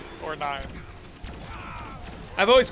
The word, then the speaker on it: IX: Even that, I would say, isn't necessarily true, because it's spelled a lot differently than it's pronounced. It's spelled Ix, but it's pronounced 9.